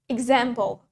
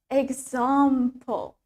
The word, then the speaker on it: example: Remember, the British accent has longer A.